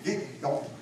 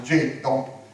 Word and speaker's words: ghetto: fonderia in Veneziano getto Poi i primi a arrivare erano tedeschi e non ce la facevano pronunciare la parola getto E dicevano Ghetto tant è vero che oggi ci mettiamo una bella Asca per evitare possibili pasticci quindi po è diventata una